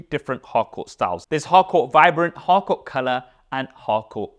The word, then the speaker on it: Harcourt: Now, because of the partnership of the Honor 200 series with the legendary photography house Studio Harcourt, or Harcourt, as they would say in French.